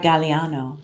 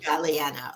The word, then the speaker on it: Galeano: good yes I want to make sure we pronounce your name correct you know if it's a long a or short a Galliano Galliano okay awesome yes I love that artwork behind